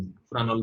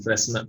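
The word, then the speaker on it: Fresnel: एक बहुत ही famous physicist फ्रेनल के नाम से, फ्रानल बोलते हैं, फ्रेनल, फ्रेसनल, एस साइलेंट है इसमें, फ्रेनल के नाम से एक बहुत ही फेमस साइंटिस्ट है।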